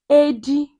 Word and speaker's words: Edi: Silver cat in Igbo language is called Edi or Ediabale.